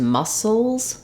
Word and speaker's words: muscles: for the o sound when we add letter s to make Muscle into muscles Souls we just add the z sound muscles Souls so uh letter